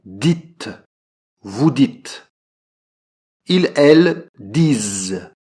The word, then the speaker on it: disent: Ils, elles disent. Donc là aussi, prononciation Z. Ils, elles disent.